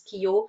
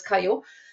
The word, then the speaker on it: Kyo: I don't even know if I think in some countries you would pronounce Kio in others Kaio.